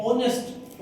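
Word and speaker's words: honest: ऑनेस्ट यह angry यानी है हंगरी आई हेल्थ ऑनेस्ट ऑनेस्ट एच इसका साइलेंट है ओ से ध्वनि आ रही है इसकी ऑनेस्ट तो इन चारों शब्दों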